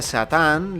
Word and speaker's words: Saturn: planetas es decir a Saturn que en japonés se pronuncia satán le buscarían la vuelta